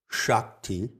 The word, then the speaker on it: Shakti: The word sacred goes back to the Sanskrit root shak, which is spelled S-A-K, and it's found in the word Shakti.